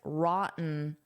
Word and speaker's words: rotten: I can say rotten rotten and pronounce those t's or I can use a glottle stop which sounds like rotten rotten which native speakers often do.